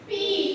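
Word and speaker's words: π: Phi. Bacanya ini pi semua.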